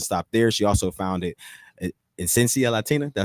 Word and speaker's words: Esencia Latina: She also founded Esencia Latina. Did I say it right? Esencia Latina, yes.